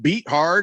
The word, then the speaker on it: Beathard: jaguars have put cj beat hard on the kovid 19 list just thought you should know that it's pronounced beathard no not here on